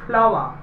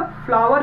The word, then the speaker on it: flour: दे लीजिए आप, FLOUR, इसे पढ़ते हैं फ्लावा। फ्लावा में होता है आटा या पिसान। कुछ लोग इसे बेटा फ्लावर भी पढ़ते हैं, जो कि ज्यादा सही प्रोनाउंसिएशन नहीं है, क्योंकि अकॉर्डिंग टू ब्रिटिश इंग्लिश इसे फ्लावा ही पढ़ते हैं।